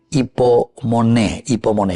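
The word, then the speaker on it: ὑπομονή: queridos amigos, todo el Nuevo Testamento, se dice hipomoné, paciencia, perseverancia, hipomoné. Y la pronunciación es justamente así, ¿verdad? Entonces el hipomonai, en realidad, ¿verdad?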